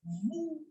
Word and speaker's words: vous: We say aap as vous. Vous. I am not pronouncing S here, as I have told you that yes, generally the last alphabet remains silent.